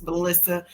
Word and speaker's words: Malysa: So, with that being said, understand my name is Melissa. You spell that M A L Y S A. If you flip it around, it sounds like asylum.